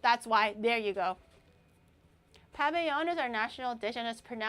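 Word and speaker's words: pabellón: in Venezuela is the paveon coro coro coro they said if it's a double l it makes a yo sound.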